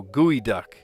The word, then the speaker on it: geoduck: Doesn't look like it should be pronounced gooey duck, but it is.